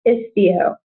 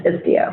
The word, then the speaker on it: Istio: So the correct pronunciation is Istio. There's a question about the Istio pronunciation. It's Istio. We should put that on the site.